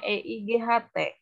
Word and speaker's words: eight: Pak belakangnya T dan H. 8. Tulisannya E-I-G-H-T. Ntar ya, ibu ketik ya. Dibacanya. 8. Bukan telur.